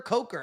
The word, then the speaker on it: Coker: I keep saying Cooker. Coker.